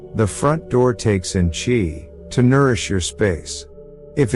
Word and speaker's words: qi: Qi, pronounced qi, means life force energy.